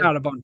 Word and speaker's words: Darabont: How do you pronounce his Frank name? Darabont, yeah.